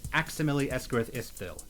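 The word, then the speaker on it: Aximili-Esgarrouth-Isthill: So I pronounce it Aximili Esgarith Istville.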